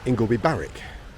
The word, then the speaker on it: Ingleby Barwick: since we left here we're in ingleby balwick while some people sometimes pronounced it ingolby barrack there was always a fierce debate about that so there's the two